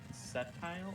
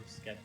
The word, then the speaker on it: Sceptile: Sceptile or Skeptile?